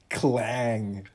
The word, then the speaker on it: Klang: There is actually an English Klang exists in English as well, but I guess it would be pronounced clang, and a clang is maybe, no, this bowl makes too beautiful of a sound.